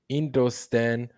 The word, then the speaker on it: Hindustan: Okay, makes sense, because I know a lot of them Roman speaking languages, they don't pronounce the H like that. Right. They say Hindu, they say Indu or Indo Stan, right?